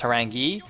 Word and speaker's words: Horang2: By the way, you might note that his ID is in fact Harang2, but it's pronounced Harangi because the 2 is pronounced as an E in Korean for some Yeah.